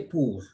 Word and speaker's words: pour: OU is U. So we say pour.